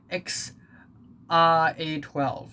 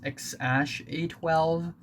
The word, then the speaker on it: X Æ A-12: elon musk and grimes that is x ah a 12 or the actual pronunciation is x ash a12 and uh yeah elon